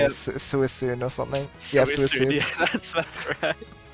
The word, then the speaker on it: Suicune: It makes sense though, because, like, who would think with all those, like, little S sounds that the C would be pronounced, like, as a C?